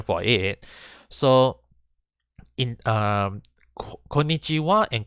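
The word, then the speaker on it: こんにちは: for it so in konichiwa and konbanwa is even though it's using the ha hiragana it is pronounced as wah and this is only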